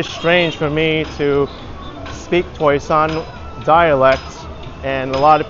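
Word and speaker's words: 台山: also learned Mandarin recently, so it's pronounced Taishan in Mandarin. So I'm kind of conflicted whether to call it by the Mandarin name, the lingua franca of the province, Toisan, the Cantonese, or Hoisan, which is the Taishan Hoisan dialect.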